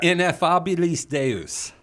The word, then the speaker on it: Ineffabilis Deus: Yes, it's Ineffabilis Deus.